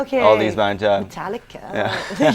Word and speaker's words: Metallica: Metallica. You can't even say it properly. Like you have to Exactly. elongate the A. Metallica, like that.